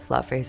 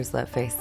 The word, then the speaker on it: Sløtface: I don't have any problem with people pronouncing it Sløtface or Sløtface. I think it's like, you know, some things work better, especially in English-speaking countries, for different purposes.